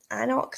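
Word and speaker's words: Alnwick: And I just took a Annock.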